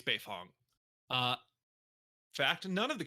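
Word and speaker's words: Beifong: this point that's that's on me i i mispronounced that moving quickly and not thinking my apologies uh tom's last name it's befong uh fact none of the characters except for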